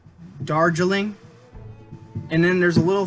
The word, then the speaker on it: Darjeeling: high learning family endings dare drilling oh i said it wrong darjeeling and then there's a